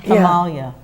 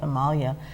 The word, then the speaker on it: Himalaya: on their herb like himalia spelled like Himalaya but it's called himalia and they have been